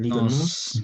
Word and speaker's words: Liga NOS: Liga Nos.